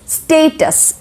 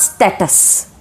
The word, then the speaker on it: status: So that is status. It is not status.